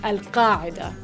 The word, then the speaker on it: Al-Qaeda: That's a pretty tough one, but still, it's pronounced Al-Qaeda.